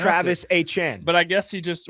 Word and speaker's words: Etienne: Kenneth Walker and Travis Etienne, or is it Etienne? He actually, as we've been told. Yeah, that's actually how you pronounce Travis it. Etienne.